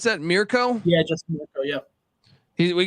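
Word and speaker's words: Mirco: Is that how I pronounce that? Mirko?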